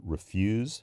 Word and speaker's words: refuse: about is the word refuse for the verb like as in my bank refused the transaction and that word re-'fuse to reject is um when in a noun form is 're-fuse and these are from